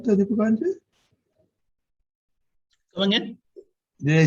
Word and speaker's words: Deepakanandji: So, did I say it right, Deepakanandji?